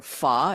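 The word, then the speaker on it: phở: I do like Chinese food, and I do like pho, or fa is the proper pronunciation. Not pho, but fa.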